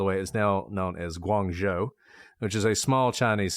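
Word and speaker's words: Guangzhou: By the way, great pronunciation, not just of Canton, but Canton is not how you say it in Chinese, but Guanzo was really good.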